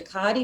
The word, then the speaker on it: Ducati: oh i needed a what is it a ducati motorcycle yeah yep is that was that am